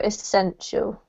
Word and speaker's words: essential: essential yeah and the emphasis is on this syllable so essential and sensual good this word here is doing